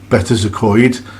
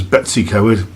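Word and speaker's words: Betws-y-Coed: the Royal Oak Hotel in better to Coit which most of my friends pronounces Betsy coward in the room I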